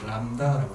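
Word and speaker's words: λ: 람다라고 한다고. 오케이? 즉 정리합니다. 이야기하는 건 거리라는 건 바로 뭐라고 이야기하고 시작? 람다라고 얘기하는 거고 얘는 마치 한자처럼 어떻게? 들립을 쓴다. 들립이라고 읽지 말고. 알았어? 람다.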